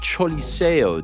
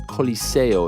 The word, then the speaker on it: Choliseo: Not the El Coliseo, it's the Choliseo. Yeah, the Choliseo. Even though it's pronounced C-O, it's actually, or it's spelled C-O, it's actually pronounced C-H-O in a roundabout way.